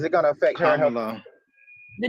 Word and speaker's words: Kamala: Now, Rose, if Kamala does not win, any of the shit that Trump is trying to push, is it going to affect her? Kamala.